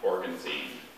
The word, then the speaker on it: organzine: central asian geographical name are there any alternate pronunciations just the one organzine thank you organ organ